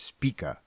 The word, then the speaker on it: Spica: length, is the icy-white star Spica (pronounced SPEE-kuh). It’s the alpha star in the constellation Virgo, the Maiden.